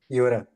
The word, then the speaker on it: Jura: Yura. Okay, hi. Yura? Yura. Yura. Yura. Yeah. Ryan knows how to say my name. Yura. Yeah, Yura. you got to roll that R.